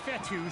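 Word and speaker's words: Fetu: so coach fethu spelled f-e-t-u for the longest time i was pronouncing it coach fedo like feta cheese so let's just say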